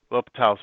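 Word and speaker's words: L'Hôpital: L'Hopital's rule? It's like, it's spelt like La Hospital's rule.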